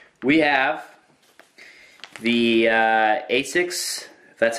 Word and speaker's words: ASICS: way row there all right we have the asics that's how you pronounce it snap-down sleeve knee pad anti-odor oh